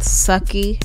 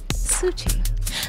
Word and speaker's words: Suci: It's not Sucky. It's not Suki. Suci. Like Gucci with an S.